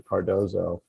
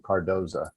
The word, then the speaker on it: Cardozo: sending their child to cardozo um and by the way i lived here probably 25 years saying cardoza so i only now do i think i'm saying it correctly but anyway she is